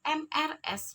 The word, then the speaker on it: Mrs.: Sedangkan apabila ada MRS dibacanya Mrs.